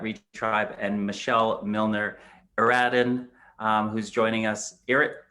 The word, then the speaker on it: Eradhun: is melissa at reach tribe and michelle milner eradin um who's joining us eric did i pronounce it right you did already good guy